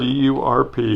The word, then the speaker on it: CURP: CURP.